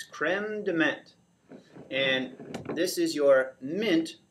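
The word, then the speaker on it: crème de menthe: is called creme DeMint so the H on the end of this is silent this is not creme Dem meth okay this is creme DeMent and this is your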